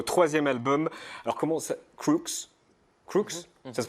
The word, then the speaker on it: Crux: Crooks? Ça se prononce comme ça? Crooks.